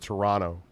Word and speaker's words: Toronto: yes yes remember if you go to Toronto the local way to pronounce it is to drop the second T pronounced at Toronto videos is the secret